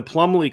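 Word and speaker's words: Plumlee: else John I think it's John ree Plum plumbley is how you say his name yeah a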